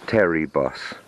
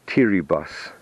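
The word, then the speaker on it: Teribus: gate here now it looks like it says Terry boss but it's actually pronounced T rebus t rebus and teary Odin and these words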